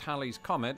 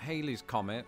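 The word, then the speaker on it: Halley's Comet: so did Lawrence Olivier Hal's Comet which is pronounced Hal's Comet and not Haley's Comet had been recorded numerous times since 240 BC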